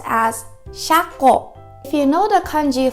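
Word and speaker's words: 車庫: It is pronounced as shako.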